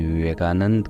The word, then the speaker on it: विवेकानंद: कि आधारित है स्वामी विवेकानंद के जीवन पर स्वामी विवेकानंद या तो स्वामी विवेकानंदा जैसा कि इंग्लिश में लोग प्रोनाउंस करते हैं उसका जन्म नरेंद्रनाथ